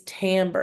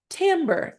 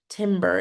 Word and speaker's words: timbre: say it with me tamber now you know how to say that um word correctly the reason why it's tamber and not Timber is because it's a French word and in French the